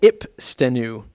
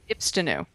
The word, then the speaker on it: Ipstenu: Oh, I'd almost want to say it's how to pronounce Ipstenu because everybody seems to get that wrong. So Ipstenu. Ipstenu.